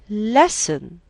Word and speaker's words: lesson: a silent l then lesson lesson has silent t wessel silent l paul